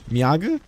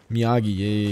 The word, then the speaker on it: Miyagi: Miyaga? Miyagi, yeah.